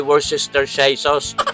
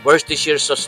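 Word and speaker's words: Worcestershire: Ang tawag ko nung una a worst sister shy sauce. Maraming nakapag-ano sa akin. Ako yung nabas. Hindi daw marunong. Hindi ko daw alam ang tunay na bigkas. First sheer sauce daw pala yan.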